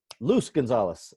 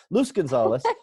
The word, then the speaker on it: Luz Gonzalez: No, Luz Gonzalez. See, my pronunciation, I always mess it up. Sorry. Luz Gonzalez.